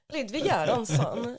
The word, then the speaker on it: Ludwig Göransson: Ludwig Göransson. You gotta always say it like a Swede.